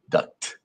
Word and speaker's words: duct: I need to pronounce the T, duct.